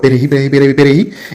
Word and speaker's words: Perejil: C'est difficile pour les haïtiens pour prononcer Perejil. Eh bien, là, vous croisez avec un dominicain noir, il dit prononcer ça plusieurs fois. Perejil.